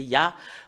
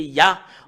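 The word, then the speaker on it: יה: En anglais, c'est Yah. Voilà comment l'écrit Yod, He. Et le fait de lire le Yod et le He, c'est Yah en langue hébreu.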